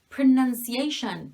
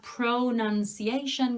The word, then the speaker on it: pronunciation: like when you say pronunciation it's not pronunciation guys it's pronunciation pronunciation you pronounce something also the verb pro nouns pronounce pronunciation this is a schwa sound this is ah pronunciation sometimes it sounds like